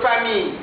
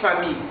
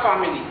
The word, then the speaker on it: famille: En anglais, on dit family, mais en français, on dit famille. Les trois lettres ici, 1, 2, 3, les mêmes quatre, ne se prononcent pas. Famille, c'est la vraie prononciation, pas family.